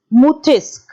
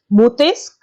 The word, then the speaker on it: Montesquieu: He is pronounced as Montesquieu. It is a French name, children. It is called as Montesquieu.